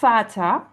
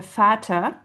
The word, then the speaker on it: Vater: comme dans le mot Vater, donc le père der Vater, et ça commence par un V quand on l'écrit, mais on le prononce F.